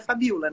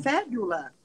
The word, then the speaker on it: Fabiola: cheguei nos Estados Unidos, as pessoas não conseguiam pronunciar meu nome, que era Fabiola, né? E Aham. aí, eles lá têm a tendência de colocar o acento sempre no começo da palavra.